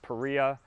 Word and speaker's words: Paria: and it is pronounced perea it's named after the peria canyon in utah i had to go